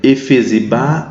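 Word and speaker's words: Hefzibá: Quem puder pode entrar aí no YouTube e vai lá e procura Efesibá beulá taipas. Efesibá beá taip. H e f zb. O f é mudo, tá?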